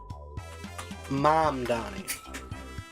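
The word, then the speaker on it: Mamdani: Oh, I think you spelled his name wrong. It's uh I'm fairly certain it's uh Mom Donnie.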